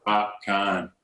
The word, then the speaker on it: Popcaan: Popcaan. Popcaan. My bad. I was like, I didn't want to say it because I was wondering the same thing. I was like, is it Popcaan? Like Popcaan.